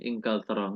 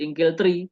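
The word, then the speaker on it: إنجلترا: Cara bacanya tetap min Ingkaltaro. Nggak berubah menjadi Ingkeltri, walaupun ada min.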